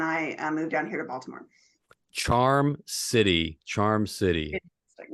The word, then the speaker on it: Baltimore: Um, Baltimore. Oh, you think in Balmer? Because some people say that, right?